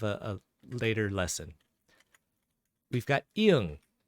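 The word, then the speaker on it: 이응: We've got iung. Iung actually has no sound. No sound. But it is affected by the vowel. So instead of actually taking its own sound, it takes the sound of the vowel.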